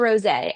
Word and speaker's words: rosé: Next up, we're moving on to rosé, and although this style might be spelled like a rose, we're actually pairing it with one of my favorite flowers, a pink Gerbera daisy.